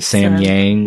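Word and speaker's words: Samyang: So thank you, how do you pronounce that again? Sam Yang.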